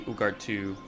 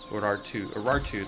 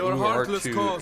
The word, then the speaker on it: Urartu: garrison only, defending against the Ugartu, or the Urartu, that's how you say it, Urartu invaders.